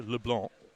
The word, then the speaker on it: LeBlanc: his surname is actually Leblon I mean Leblon is fine as an English approximation but the C is silent just like it would be in the French parli so Leblon I